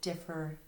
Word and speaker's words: different: And then when they say the word different, sometimes they hear an I sound there, and they'll write I-N-T instead of the E-N-T. Different.